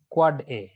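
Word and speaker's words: AAAA: A যদি পাঠায় তাহলে an end device of IPv4, ns পাঠাইলে হলো an authoritative name server, আর চারটায় পাঠালে pronounced quad A.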